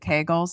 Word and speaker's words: Kegels: that different than doing is it kegels is that how you say it how is that I'm like okay go it Rhymes a bagel though how how was